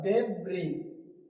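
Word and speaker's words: debris: जैसे यहाँ क्या लिखा हुआ, डेब्री, डेब्री, डेब्रिस नहीं लिखा हुआ, यहाँ क्या लिखा हुआ, डेब्री, डेब्री का मतलब होता है मलबा, कीचड़ है ना, मलबा, ठीक।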